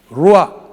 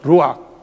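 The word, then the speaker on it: רוח: 이게 무슨 발음이 뭐예요? 루학.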